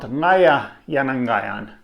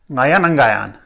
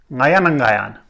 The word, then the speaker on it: ngayanangayan: But this is not ngaya yanangayan. This is ngayanangayan, ngayanangayan. So one of the identical ya syllables is deleted.